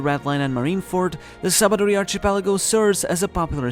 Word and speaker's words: Sabaody: The Sabaody Archipelago, written as Sabaodi from Portuguese sabão, soap, but pronounced as Sabaody from Old Spanish jabón, soap, which is